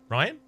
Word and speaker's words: Ryan: Ryan is pronounced 1 syllable, pronounced like Ryan.